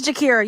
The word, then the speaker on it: Jakira: No, it's Jakira. You're fine. It's like Shakira but with a J.